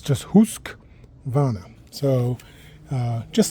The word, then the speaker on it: Husqvarna: It's actually so it's not that there's no there's no husk uh it's just husk vana. So uh just like it's just like it looks actually if you look at the word h u husk and then w a r n a husk.